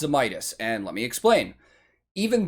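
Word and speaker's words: Zemaitis: It's pronounced Zemitis.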